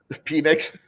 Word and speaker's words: Penix: Yeah, the quarterbacks, it's Williams, it's Penix. Penix? Penix. Hey, you're on a roll today. No, it's always Penix to me. That's how you pronounce it.